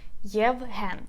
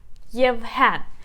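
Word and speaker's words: Євген: So we put the stress on the second syllable, which is e. Yevhen.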